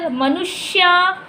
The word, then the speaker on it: मनुष्य: अभी श मनुष्य, श पहले आ रहा है हल्के में और य का पूरा उच्चारण आ रहा है।